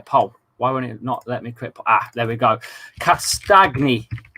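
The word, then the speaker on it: Castagne: Castagni. It's a bit like lasagna. Castagni.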